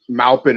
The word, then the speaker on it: Maupin: It's actually not pronounced however he was saying it. Maupin is the name of a city that's here in Central Oregon, actually.